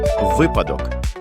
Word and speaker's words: Випадок: У якому слові наголос падає на перший склад? Випадок.